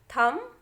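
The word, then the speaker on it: thumb: तो देखिए क्या बोलना है आपको, लिखा जरूर COMB है बच्चों, लेकिन बी को आपको प्रोनाउंस नहीं करना है। तो ये हो जाएगा कॉम, दूसरा हो जाएगा बॉम, थम, क्लाइम, टॉम, क्रम और लैम्प।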